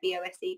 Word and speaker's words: Bose: That's how you say it, B-O-S-E, Bose is its sound system.